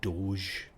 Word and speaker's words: doge: I just refuse to believe that that's supposed to be pronounced Doge. I've heard people for years say Doge, but it looks to me as if you're going doggy. It's just an E on the end of it.